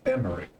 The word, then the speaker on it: Emmerich: to meet you i'm emmerich lord commander of the temple knights it's emery that's how you pronounce it alfie no levier at